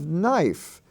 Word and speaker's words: knife: life wife we have knife knife is not spelled n-i-f-e it's spelled k-n-i-f-e which is also a spelling form for the consonant n in lesson 99 we